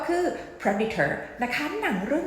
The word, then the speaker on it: Predator: นะ คะ คำ เนี้ย คน ไทย อ่ะ จะ ออก เสียง ว่า Predator ใช่ ม แต่ จริง ๆ แล้ว นะ คะ มัน จะ อ่าน ว่า Predator Predator แบบ นี้ นะ คะ ลง เสียง หนัก ที่ พยางค์ ที่ 1 ค่ะ Predator จะ แปล ว่า